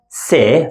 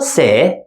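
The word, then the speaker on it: ث: Don't confuse this sound with letter se from the previous group. Letter se is very soft. Se. Se.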